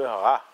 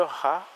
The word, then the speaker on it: Ra: Certains écrivent Ra, ou prononcent Ré, ou assimilent encore Ta-Ré, Père-Ré. Pourquoi pas Maré?